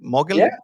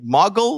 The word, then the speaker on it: Moguel: Am I saying it correctly? Yeah, Mogel or Mogel, right? Right. yeah. So behind scenes, I was like Muggle, like in Harry Potter or something, right?